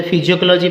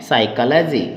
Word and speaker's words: psychology: इसको कई बच्चे जो है फिजियोलॉजी पढ़ते हैं। बच्चों फिजियोलॉजी नहीं होती है, वो PHY होती है। यहाँ पर एस के कारण से पी साइलेंट रहता है, इसलिए हम इसको क्या पढ़ते हैं? साइकोलॉजी।